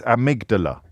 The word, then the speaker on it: amygdala: It's amygdala.